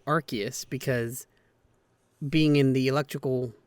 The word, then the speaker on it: Arceus: speaking of pokemon arceus i'm pretty sure nintendo says arceus i've always pronounced that pokemon's name as arceus but we'll go with arceus and we'll see how far i go before i start reverting back to arceus see i have to